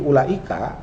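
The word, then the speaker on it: أولئك: Tapi ulaika, karena ulaika meskipun di sini ada wawu, karena bacanya pendek, ulaika, nah itu yang panjang cuma la ya kan.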